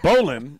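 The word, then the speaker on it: bowline: that sounds delicious now there's a bowan which is the only knot that I really know how toe it's it's spelled bow line right let me go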